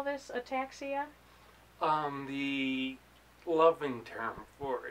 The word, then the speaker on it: ataxia: very talented musician and he has something called a taxia is that correct is that how you say it that is correct and so as Ian